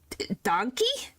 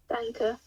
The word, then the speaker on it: Danke: Well, thank you, but how do you say... Danke. Danke. Danke? Danke? Yeah, it's thank you, Dunka.